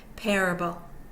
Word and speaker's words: parable: 1 0 over Parable one of course means primary stress it's over the first syllable the first syllable is primary stressed the second syllable is unstressed and so is the third Parable Parable one2 over hurricane